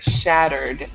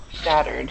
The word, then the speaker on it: shattered: tip on your pronunciation when you pronouncing these verbs with the E uh you don't add an extra syllable to the N so it should be shattered shattered shattered shattered perfect and